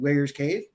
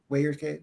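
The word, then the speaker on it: Weyers Cave: The Souder Fund, getting ready for the Virginia Bigfoot Convention in Wayers Cave. I said that right. Wayers Cave? Yeah. Yes, you said it right.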